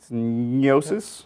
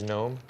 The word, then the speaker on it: gnosis: cool weapon named gnosis you think it's like neosis oh is it like with a GN it is oh I love words like that I have no idea how to say them but like gnome like like gnome we're going to be